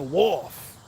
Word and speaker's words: wharf: how to say it no other way it's the wolf w-a-r-f-f wolf there a wolf